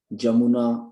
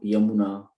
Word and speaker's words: यमुना: भी देखते हैं कि ज को ह भी प्रोनाउंस करते हैं, जैसे जमुना, यमुना, यशोदा, जशोदा।